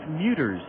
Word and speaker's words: Mutter: fella excuse me Casey mutters and I'm saying his name completely wrong it's Casey mutter mut t e r no s Casey mutter and